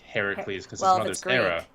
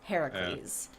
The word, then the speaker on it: Heracles: them thank you now I guess the correct pronunciation would be Heracles if it's green well if it's yeah Greek is Heracles but I'm American Heracles